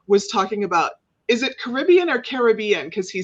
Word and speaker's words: Caribbean: Since we're talking about pronunciations, it is the Caribbean, not Caribbean.